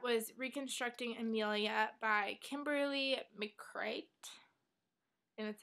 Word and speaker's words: McCreight: And then the last book I got was Reconstructing Ameila by Kimberly McCreight.